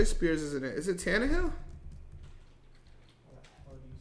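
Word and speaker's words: Tannehill: looking at Taj Spears isn't it is it tanah Hill you spell that it's t a n n e h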